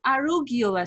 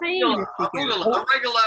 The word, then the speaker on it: arugula: my cooking um but no no no it's arugula salad did that pronounced a regular arugula okay that's something completely different gosh i've